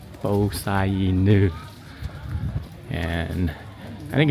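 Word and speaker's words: Po Sah Inu: So we just learned the proper pronunciation of this place is Bosainu. Bosainu.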